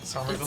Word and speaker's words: Somerville: how you say it Somerville not summer Somerville Somerville Somerville okay but uh they're